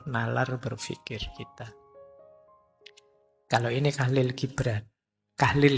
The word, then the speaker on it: Kahlil: Ini Kahlil Gibran, Kahlil, menggunakan huruf K bukan B. Saya khawatir Anda mungkin salah membacanya. Seharusnya dinamai Kholil, tetapi di Barat, nama itu menjadi Gibran.